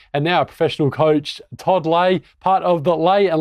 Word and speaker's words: Todd Ley: professional tennis player and now a professional coach Todd lay part of the lay and langman Elite Tennis Academy did I pronounce that correctly man you got it you